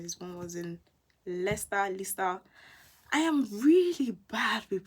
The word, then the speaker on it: Leicester: try to improve myself so it's lester or lisa i think it's lester and then coventry and